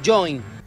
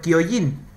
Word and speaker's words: Kyojin: ¿Dónde está tu equivocación, siendo que tiene una K delante esa última palabra? Shingeki no Kyojin.